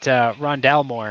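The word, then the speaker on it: Rondale Moore: I'm looking at Aziz, and I'm actually looking at Rondell Moore. Is that how you pronounce his name?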